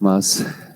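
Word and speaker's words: Mach: natural otros el número de mayo que se pronuncia más y se escribe de esta forma el símbolo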